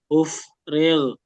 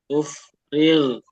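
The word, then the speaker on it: أفرغ: Ingat go ya. G dia bukan G dikasih O tapi dia seperti mengambang. Jadi ufrig righ jadi bukan ufrig. Ufrigh.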